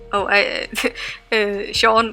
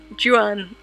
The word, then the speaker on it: Juan: John says, just a little note, I like how you pronounce the Sean, but it's actually Juan.